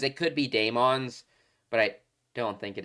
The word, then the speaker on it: Daemons: I still think it is pronounced demons. It could be Daemons, but I don't think it is.